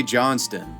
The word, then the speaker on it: Johnstone: ray johnston and i know it looks like john stone for you american viewers but it's pronounced johnston in the australian dialect 75 year